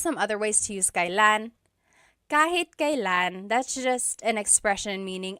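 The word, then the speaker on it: kailan: It's pronounced kan kylan but you will often hear it pronounced kalan.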